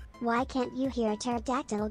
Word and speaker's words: pterodactyl: why can't you hear pterodactyl go to the bathroom because the p is silent york i'm face